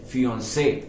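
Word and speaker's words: fiancée: the way you say the way you pronounce it remains the same it is fiancee whether it is a male or a female right that is something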